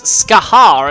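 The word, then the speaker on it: Scáthach: car / dance clubs is ska har at least that's how the persona characters pronounces there are a few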